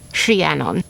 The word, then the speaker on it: Rhiannon: And yes, it's Rhie. Rhie Rhie cuz of the r h. Rhiannon.